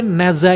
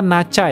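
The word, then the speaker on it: Nezha: Gila keren banget gitu By the way Neza itu bacanya ternyata Nacha ya guys ya gua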